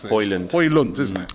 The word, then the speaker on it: Højlund: How do you How do you pronounce this? Højlund. Højlund, isn't it? Højlund, yeah.